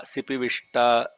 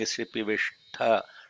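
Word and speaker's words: शिपिविष्ट: Except one place where instead of ta, sipivishta, you're saying sipivishta.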